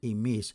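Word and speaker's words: ὑμεῖς: Note that emis spelt with an eta is pronounced the same as emis spelt with an ypsilon.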